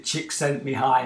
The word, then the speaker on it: Csikszentmihalyi: Yeah, I can remember seeing it actually spelled out phonetically. Chick sent me high on Amazon.